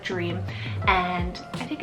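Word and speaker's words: Jream: Next up is Dream, and Dream is spelled J-R-E-A-M, Dream.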